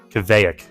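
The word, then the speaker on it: kveik: Yeah, I get down with some IPAs, and I think I said it wrong. It's Kjevek.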